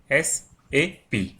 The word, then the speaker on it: SAP: It is pronounced as individual letters SAP.